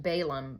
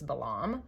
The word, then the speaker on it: Balaam: his name is balam I always heard it pronounced balum but I Googled the out of it and I'm like 92% sure it's balam so balam has one